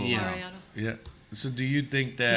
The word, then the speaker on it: Mariano: Mariano? Mariano? Yeah. Mariano.